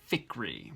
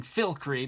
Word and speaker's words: Fikry: Fikry, which I've been pronouncing Filkry because I thought there was an L, and there's not one.